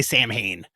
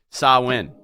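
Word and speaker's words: Samhain: to pronounce that pay-per-view it's from the Celtic or you could just say sam Hayne no you cannot say sam ha you cannot say sam apparently sa win sa win tonight 8:00 on fight and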